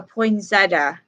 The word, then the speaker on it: poinsettia: you see only at Christmastime is called a poinsettia okay and that is spelled II I and s ET TI that's